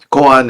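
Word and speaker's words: kōan: Goan is the Japanese pronunciation of these Chinese characters means public case in the sense of public record.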